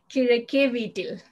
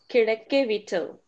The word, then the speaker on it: Kizhakkeveettil: Kirakevitil. Say it again. Kira K V till. Kirakevittil.